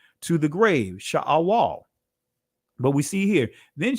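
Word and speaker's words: Sheol: So Sha'awal or Shaul, as some would say, Shoel, however you want to pronounce it. I'm just going to say it from the ancient.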